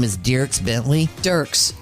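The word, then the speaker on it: Dierks: Dirks. Dirks. Yeah. It's spelled D I E R K is how you spell it.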